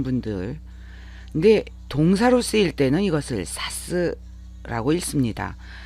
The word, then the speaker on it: 指す: 기초로 알고 계신 분들네 동사로 쓰일 때는 이것을 사스라고 읽습니다 단 이음저러인이 동사가 설명할 내용이 좀 많네요